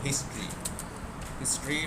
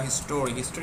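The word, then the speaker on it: history: এরপর আমি এখানে গিয়ে আর একটা হেডিং বানাবো, হিস্ট্রি বা হিস্টোরি হবে না, এটা হিস্ট্রি হবে উচ্চারণ।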